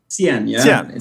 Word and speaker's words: Cien: So you're CEO, founder of, and you pronounce it Cien? Cien.